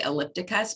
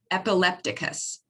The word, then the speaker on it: epilepticus: the unclassified static status i always want to say ellipticus but i say it wrong um epilepticus and that is more